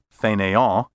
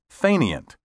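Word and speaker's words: fainéant: a current dictionary you may find the french pronunciation fenaya listed first or even listed alone frankly i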